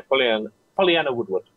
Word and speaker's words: Pollyanna Woodward: The TV presenter, and I'm going to try and pronounce this, Pollyanna Woodward. Yeah. I said it right? Yeah, Pollyanna Woodward.